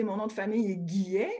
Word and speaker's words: Guillet: Mon prénom est et mon nom de famille est Guillet. Le Guillet, c'est comme le mois de juillet, mais on remplace le J par un G. Donc, Guillet, vous pouvez venir me rejoindre sur mes réseaux sociaux, Facebook et Twitter.